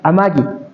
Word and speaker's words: Amagi: Este símbolo se pronuncia Amagi El Amagui tiene dos historias que muchos historiadores lograron desenvolver, o sea, lograrnos contar.